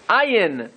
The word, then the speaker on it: ayin: Ayin. How do you pronounce an ayin? Mivta hanachain ke'alef. The ayin sounds like an aleph. Hanidchak el hachech. But with the aleph stuck to the palate.